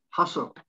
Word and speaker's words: hustle: something silent tea fasten hustle silent t hustle then listen silently again